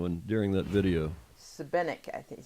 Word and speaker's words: Šibenik: And how you had the pronunciation when during that video? Šibenik, I think he said.